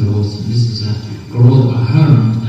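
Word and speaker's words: Gearóid Ó hAllmhuráin: host, and this is Garol O'Halloran. And if you can't pronounce that complicated long Irish name that you have to see, O'Halloran will have to do. But he's Garol, so there you go.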